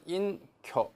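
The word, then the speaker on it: 隠居: 발음은 인쿄 이렇게 있습니다.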